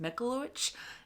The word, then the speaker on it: Michalowicz: I believe his last name is pronounced Michalowicz. It's Polish, and I could probably be butchering it.